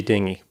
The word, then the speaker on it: dinghy: for for dingy yeah it might have been a dingy dinghy it could have been it could have been very likely to very different words though dingy and dingy yes